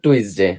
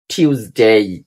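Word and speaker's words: Tuesday: এটাকে আমরা সবাই বলি টুইসডে আসলে এটা টুইসডে না টি কে উচ্চার করবেন টি টিউসডে টিউসডে টিউসডে আরেকটা উচ্চারণ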